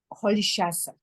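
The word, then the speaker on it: Rolihlahla: And she gave him the Xhosa name Holishasa, which is spelled completely different, right? But this is how you say it.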